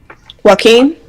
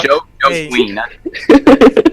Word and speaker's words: Joaquin: Is his name pronounced Joaquin Phoenix? Joaquin? Joaquin. What did you say? Jaquan? Jaquan? He said Joe Queen.